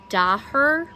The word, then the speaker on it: Daher: It's made by Daher, which is D-A-H-E-R. I think that's how you say it.